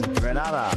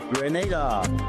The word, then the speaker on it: Grenada: So, today like we Germans say, we are in Grenada. But I heard in English it's called Grenada. Say it right. Grenada.